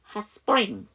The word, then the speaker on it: spring: Hot spring. 이게 스파죠. S 사운드 뒤에 무성은 P니까 쌍잠 스파. 스프링도 S 사운드 뒤에 P니까 spring 이렇게 발음이 되겠죠.